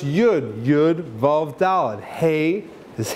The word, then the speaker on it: Yud: That's why the Zohar says that when you take God's name and you pronounce it, so a Yud, it's pronounced Yud, Yud, Vav, Daled.